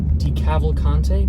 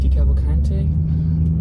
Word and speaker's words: DeCavalcante: Um, and that's after seven members of the Jersey family, let's try and pronounce his name again. Stick with me here. Decavalcante. Decavalcante.